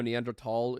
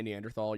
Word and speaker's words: Neanderthal: Technically, it was the original word is German, so Neanderl is technically the correct pronunciation. But if you say Neanderthal, you're not wrong.